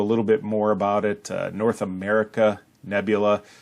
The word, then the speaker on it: North America Nebula: bit more about it North America Nebula it's often miss pronounced or misread as North American it's actually North America nebula also known as NGC